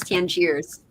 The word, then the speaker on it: Tangiers: And it's the way you pronounce it is Tangiers.